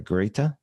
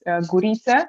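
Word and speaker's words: Gurița: Well, that's what normal people actually pronounce it, but in my language is Gurica, which is a bit more complex, I would say, but don't worry about it. I'm used to both.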